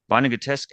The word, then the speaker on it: Vonnegutesque: Vonnegutesque actually rhymes with burlesque.